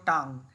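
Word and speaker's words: tongue: Next, hold your টাং। টাং, এটার উচ্চারণ টাং, টাং মানে জিভ, এটা টঙ্গু নয় কিন্তু, টাং।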